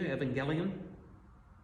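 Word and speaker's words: εὐαγγέλιον: the Greek yuelan and the U is sometimes pronounced like a V that sound familiar to you Evangelion about evangelism that's where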